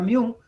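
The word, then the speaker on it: μ: media si es mío se simboliza con esta está como es como una un sí pero se pronuncia miu es igual a la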